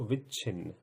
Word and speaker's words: विच्छिन्न: इसको पढ़ेंगे उच्छिन्न और इसको विच्छिन्न।